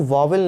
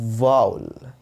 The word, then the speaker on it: vowel: इसको प्रोनाउंस करते हैं वाउल, यानी वा उ आधा अ ल।